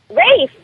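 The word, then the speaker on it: Ralph: Rafe, that sounds great. And it's spelled R-A-L-P-H.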